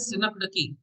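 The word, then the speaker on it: synecdoche: इसका प्रोनाउंसिएशन है सिनकडकी।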